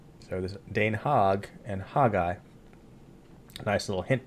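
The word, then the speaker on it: Den Haag: the Netherlands and they speak Dutch and it's pronounced Dane hog and isn't that that interesting that this is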